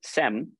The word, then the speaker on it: Sem: and park who's the CEO of sim Corporation sem because I believe the pronunciation in Korea uh so why don't